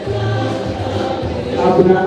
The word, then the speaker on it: Abna: Abna. In my language, we say Abigail. Abna is pronounced as Abigail in Abigail.